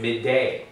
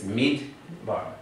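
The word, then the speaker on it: מדבר: It's not sounded as midday. Midday bar. It's midbar.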